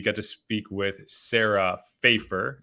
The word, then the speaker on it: Fejfar: to speak with sarah fafer it rhymes with paper myself having a last